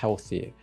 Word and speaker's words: healthy: Mais si vous voulez bien parler l'anglais, le TH, on doit bien mettre la langue sous les dents et faire healthy.